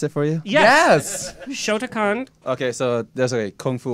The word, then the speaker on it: Shotokan: Want me to take over and pronounce it for you? Yes! Shotokan.